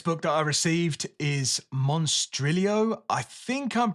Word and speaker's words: Monstrilio: The next book that I received is Monstrilio. I think I'm pronouncing that right. I think you are supposed to, in this case, pronounce the L, although that's not always the case in all Spanish words.